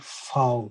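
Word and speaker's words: Vau: German, know it is foul. And of course, if you remember foul, which is like literally foul, chicken, once you remember foul in English, just know that that is your V in German.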